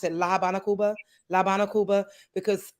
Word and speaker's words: Cuba: pronounce it La Habana, Cuba, because Like, A, E, I, O, U are the vowels in Spanish. So we don't say Cuba because the U is so Cuba, and the A is A.